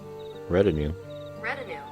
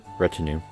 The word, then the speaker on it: retinue: American. Retinue. American pronunciation. British. Retinue.